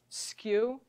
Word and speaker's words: SKU: where I talked about sometimes pronounced as a word skew stock keeping unit it's